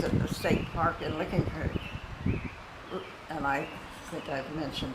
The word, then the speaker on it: Licking Creek: It was at the state park in Licking Creek. And I think I've mentioned this before. We always said Licking Creek. Licking Creek. Well, they think you're stuck up if you say Licking Creek. It's Licking Creek.